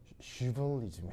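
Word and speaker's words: chivalry: 이게 시간이 거의 쉬에 가까운 발음이 나거든요. 그래서 이 발음이 슈벌리즘이에요. 그래서 발음이 발음 잘해야 되는데 이거 뭔 뜻이에요?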